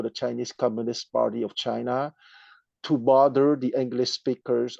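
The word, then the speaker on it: Qin: Okay uh for example if you see q e i n which is team or second tone chin which is the principality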